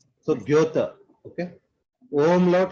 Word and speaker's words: Goethe: Goethe. So Goethe, okay? Umlaut, how should you say? Put your mouth round mouth, okay? And then say O from that. Goethe, Goethe, Goethe.